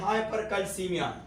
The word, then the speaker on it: hypercalcemia: इसका प्रोनाउंसिएशन है हाइपरकैल्सीमिया और इसका मतलब है हाइपर ऑक्सिलूरिया और इसका नाम है हाइपर यूरिसीमिया।